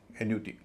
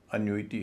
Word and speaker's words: annuity: इसको भी लोग एन्यूटी कहते हैं, एन्यूटी। एन्यूटी नहीं है, अन्यूइटी है, अन्यूइटी।